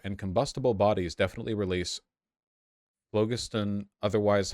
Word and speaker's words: phlogiston: It's pronounced phlogiston? Okay, phlogiston, my apologies.